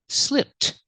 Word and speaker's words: slipped: In the past, slipped. We hear the ED making the T sound. Link the sounds together. Slipped, slipped. He slipped on the ice.